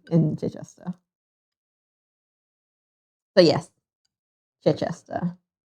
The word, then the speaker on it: Chichester: So yes, Chichester. The CE makes a ch sound as well as the CH making a ch sound.